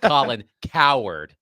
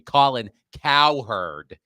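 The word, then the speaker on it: Cowherd: I'd like to apologize to the texter for mispronouncing Colin cow herd. Not Colin Coward like he's he's a big baby. I'm sorry. Colin cow herd.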